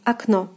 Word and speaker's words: окно: So the first O will be reading as A, and the second as in the alphabet O. So the word is pronounced as окно, окно, окно, окно.